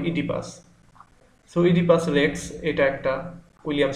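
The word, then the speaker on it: Oedipus: উচ্চারণটা এরকম হতে পারে ওডিপাস বা ওডিপাস এরকম অনেকে বিভিন্ন রকম বলতে পারে সঠিক উচ্চারণে ও এর উচ্চারণটা হবে না হবে ইডিপাস ইডিপাস রেক্স এটা একটা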